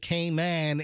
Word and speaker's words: Cayman: very good yeah so but it appears that kman Airways is is running okay today hopefully it also appears that kman Airlines is pronounced came in Airlines no it's yeah I mean everybody knows